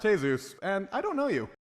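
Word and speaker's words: Jesús: business Vasquez the Sun jesus Santana it's pronounced hey-zeus and I don't know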